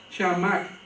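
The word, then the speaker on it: חמס: el ver en el la palabra en hebreo se se pronuncia chamac Qué significa violencia injusticia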